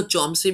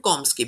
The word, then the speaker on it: Chomsky: सो इसको चॉम्स्की भी कहा जाता है एंड कॉम्स्की भी.